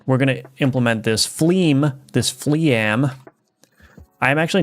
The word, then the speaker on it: fleam: The word fle is pronounced as flee, rhyming with team or seam.